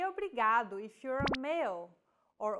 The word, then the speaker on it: obrigado: here in lesson two don't pronounce it like an English R don't roll your tongue listen to how Anna is pronouncing this sound the think of the quick tapping motion your tongue makes as it strikes the top gum Ridge in words like ladder or butter all together it's foreign